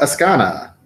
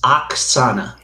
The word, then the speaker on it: Oksana: so okay excellent so ask Anna I I mean you know what I am gonna be that guy it's Oksana oh yes yeah okay